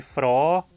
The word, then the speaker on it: Fraa: Preste atenção na diferença de pronúncia entre Frau, mulher, e froh, alegre.